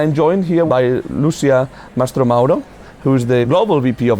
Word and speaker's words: Mastromauro: And I'm joined here by Lucia Mastromauro, who's the Global VP of Advertising at Deliveroo. Thank you. I pronounce the name well?